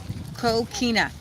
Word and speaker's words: coquina: Augustine were made of, this is how we pronounce it, coquina.